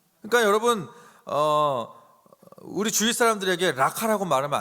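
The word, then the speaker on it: ῥακά: 여러분 이 라가라는 의미는 쉽게 말하면 헬라 단어로 발음하면 라카예요. 라카.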